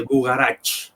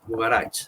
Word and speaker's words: Bugarach: En Occitania o sobre todo en francés es conocido con el nombre de Bugarach. Bugarach. Eh, así.